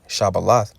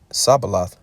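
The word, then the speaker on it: Shibboleth: said they unto him say now shabbalah he said sabalath for he could not frame to pronounce it right then they took him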